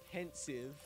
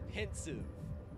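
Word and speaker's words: Pensieve: So when it's pensive, I haven't heard characters say it. All I've done is read it. And because it's a made-up word, I've just been, I guess I've been saying it wrong my whole life. It's a pensive.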